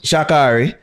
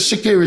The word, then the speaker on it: Shericka: You know what says Shakiri, she call herself? Shakiri. True. So even but how it's spelled Shakari.